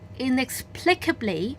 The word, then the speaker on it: inexplicably: 點咧，咁啊有冇漏到個 L 啦？即係因為呢度有 2 個 L 嘅聲音嘅喎。